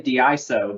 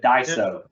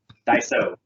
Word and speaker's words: Daiso: even say it Daiso people want to say diiso but Daiso yeah we hear quite a few pronunciations so uh from a brand awareness it's Daiso Daiso well so Daiso is a really unique company